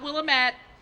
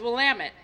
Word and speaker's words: Willamette: going with this tree it is not Willem at it is Willamette and we're so proud that